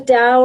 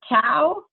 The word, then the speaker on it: Tao: Is it similar to Tao? It is the same. It's T-A-O is the correct spelling. Pronunciation, as I have learned it, is to pronounce it as if it were D-A-O.